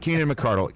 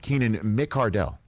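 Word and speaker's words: Keenan McCardell: messing with us now not keenan mcardle keenan mick cardell it matters and then just recently it's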